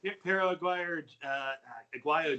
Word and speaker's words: Pero Aguayo: He killed Pero Aguayo Jr. Yeah. That's how you pronounce it.